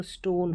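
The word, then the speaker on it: stone: यहाँ पर ओन है, ONE है, इसको वन नहीं पढ़ना है, इसको ऑन, ओन ऐसे, तो स्टोन हो गया।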